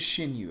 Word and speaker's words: Xinyu: It is Xinyu. Okay, so I was saying it right.